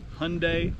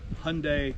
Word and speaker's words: Hyundai: proper pronunciation alright so the easiest way to say it and to make the correlation is Haeundae like Sunday so why being silent